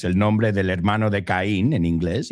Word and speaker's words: Caín: So, those, that is your first word, Caín. Okay, Caín. Sí, veo que tiene el acento ahí sobre el estrés sobre la I, ¿no? So, it's Caín.